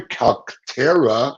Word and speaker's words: Calcaterra: Gothamnightcomics and Calcaterra.